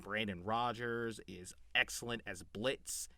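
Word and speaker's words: Blitzø: I think Brandon Rogers is excellent as Blitz. The O is silent.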